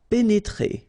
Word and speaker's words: pénétrer: pénétrer. Okay, remember here, accent aigu and then accent aigu. So you pronounce it E.